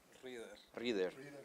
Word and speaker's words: Ryder: ¿Cómo se pronuncia su nombre? ¿Ryder o Rider? Rider. Okay.